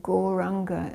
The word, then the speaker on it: Gauranga: and repeating so we'll be dividing gauranga into four syllables ah we say it